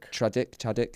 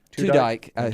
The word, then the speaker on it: Tudyk: Chuddick. How do you say it? Tudyk.